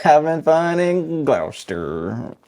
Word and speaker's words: Gloucester: Like if you don't get pneumonia, you're not having fun in Gloucester. How you say it? How you say it? Exactly like that.